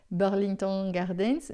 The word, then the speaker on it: Burlington Gardens: Burlington Gardens, a gente vai pronunciar assim a francesa, Burlington Gardens, maison dans laquelle, a casa na qual.